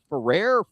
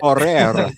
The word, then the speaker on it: Ferrer: If you can roll your RS, you should do it. Ferrer, we got Jose Ferrer.